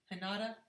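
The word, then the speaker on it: Hinata: you um yes and how do you say h-i-n-a-t-a from naruto hanada yeah okay yeah y'all said i was right i was right okay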